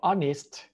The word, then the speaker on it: honest: อ ก เ สี ย ง ว่ า honest honest ไ ป เ ล ย น ะ